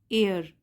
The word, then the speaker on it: heir: title है the right एयर इसमें एच जो है वह साइलेंट है हम बोलेंगे एयर the right एयर नाउ